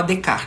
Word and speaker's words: Descartes: saber quem é né Descartes é assim que se escreve o nome dele mas se fala dec né é fran é